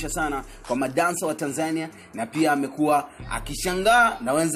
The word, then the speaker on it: Tanzania: from boy is from Tanzania Tanzania if you think it's perhaps Tanzania you're a fool and I feel sorry for you I would never pronounce it that way don't go back and